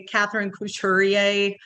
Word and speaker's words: Catherine: say it right um it's in English we just say Katherine um in French it' be K just to be very fancy but I I pretty much blow that off in Texas how long